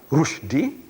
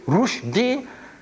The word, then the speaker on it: Rushdie: And Rushdie, see, Rushdie should be spelled rightly the way we pronounce. Rushdie, R-O-O-S-H. Rush. D-E-E-D. Rushdie. But no, you see the father anglicized the name. R-U-S-H. Rush. D-I-E. What is D-I-E? Die. Rush. Die. Die.